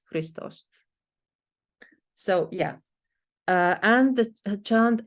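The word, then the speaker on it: Христос: In chant manuscripts, it may be written out entirely, but as you can see here, for instance, Christos, and you're supposed to know this is two syllables, Christos.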